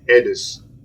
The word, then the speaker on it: Aedes: a mosquito known as the Edis mosquito is spelled aedes uh the thing about